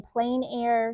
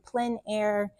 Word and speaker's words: plein air: some people say in plain air some people say in PL air I don't know that